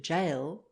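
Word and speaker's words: gaol: the central dialects and our word jail g-a-o-l has preserved its northern spelling while it is pronounced and sometimes written with the j of parisian french when in the year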